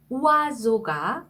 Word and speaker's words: oiseau: 네, 여기도 o 다음에 이가 왔죠. 그래서 우아 라는 표현이 됐고요. 그 다음에 s 다음에 으가 왔죠. 네, 이거는 o 발음을 해요. 그래서 oiseau 이렇게 발음하는 단어입니다.